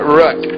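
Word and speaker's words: Röck: an um light there which would usually in German extend an O to an ooh sound but here it's got an uh sound so it's Magdalena Rook foreign then we're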